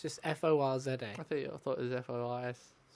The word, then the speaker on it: Forza: Forza. Forza. Forza. That's it. It's you say Ford, but you stop short.